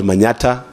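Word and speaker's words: Manyatta: of a place called Manata in embu County it is supposed to be Manhattan but but we cannot pronounce Manhattan so we say Manata and I'm also the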